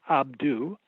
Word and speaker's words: Abydos: a matter of fact the name abidos according to almost a abydos was originally pronounced abdu and the meaning of